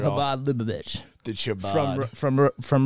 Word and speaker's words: Chabad: habad say it right say it habad Lich the Chabad from